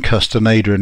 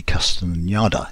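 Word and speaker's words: Castaneda: books by custom Ada I've called him custom Adrian an earlier tape sorry um probably custom and yada is the better way to pronounce it these are books about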